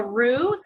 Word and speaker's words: roux: is going to be what we call a roux that's spelled r-o-u-x it's french it's basically a mixture